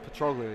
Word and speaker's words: Petrolia: Is that how you say it, Petrolia? Petrolia, yep. Petrolia.